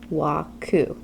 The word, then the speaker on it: WKU: a waku chart has W KU and it's pronounced waku in the waku chart we have w w